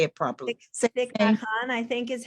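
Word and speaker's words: Thích Nhất Hạnh: Thich Nhat Hanh, I think is how it's said.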